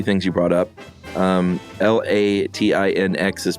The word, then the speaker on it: Latinx: Um, L A T I N X is pronounced, she says, Latin X.